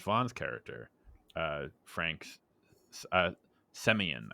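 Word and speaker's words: Semyon: character uh Frank's uh semian I think is how you pronounce it I keep calling him Simon um but it's Frank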